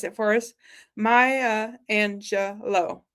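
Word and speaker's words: Maya Angelou: has been so kind to like, uh, phonetically pronounce it for us. Maya Angelo. Maya Angelo.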